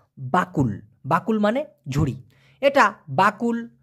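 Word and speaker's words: bakul: Malaysian ভাষায় বলা হয় বাকুল বাকুল আবার কেউ বকুল শুনেন না আবার কবুল শুনেন না বাকুল বাকুল মানে ঝুড়ি এটা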